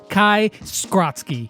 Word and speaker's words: Kai Skrotzki: Lex back today for another Brawl Stars video, and today we are going to be talking to the voice actor for Stu, Kai Skrotzki.